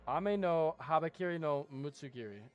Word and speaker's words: Ame-no-Habakiri No Mutsu Girei: Sanctification Fish and Bids and they Ame-no-Habakiri No Mutsu Girei Ame-no-Habakiri No Mutsu Girei is what it's actually pronounced.